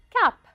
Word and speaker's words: cape: ma bouffe aux voeux à la fin du mot je ne prononce pas le e à la fin du mot une cape encore une fois une